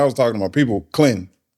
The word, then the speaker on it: Clinton: Now, if I was saying it just like, you know, if I was talking to my people, Clinton, Clinton, one one syllable. Yeah. Clinton.